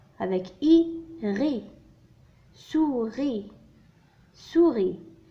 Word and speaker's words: souris: souris. souris. le S هنا لا ينطق.